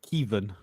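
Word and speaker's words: Caoimhín: How was it, Billy? Kevin. That's how to pronounce it anyway.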